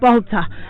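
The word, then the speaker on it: balter: uncommon words well here's one bolter ah yes baltha b-a-l-t-e-r to dance clumsily without any rhythm but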